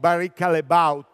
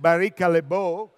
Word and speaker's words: Barry Callebaut: manager of the gourmet division the case of Barry Callebaut you know all of us will speech Barry Callebaut but they are from Belgium and they say